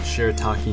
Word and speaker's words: shirataki: Under is shirataki, that's how you say it, shirataki noodles, which is extremely good for the gut.